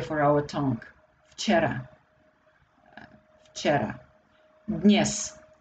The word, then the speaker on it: dnes: Dnes. D sounds very lightly because it's also very difficult to pronounce. Dnes.